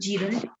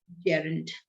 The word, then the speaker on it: gerund: gerund means ing and you can pronounce it jiren it's not jiren gerund okay what do you